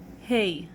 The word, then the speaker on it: Hey: The way it's pronounced is H, like H in English, but make sure to take out air when you say H, like the word in English hunter. When you say the word